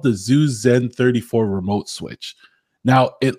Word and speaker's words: Zooz: Zoozy, is that how you pronounce it? Zooz.